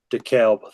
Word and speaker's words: DeKalb: DeKalb. That's why I threw it to you, because I forgot the pronunciation.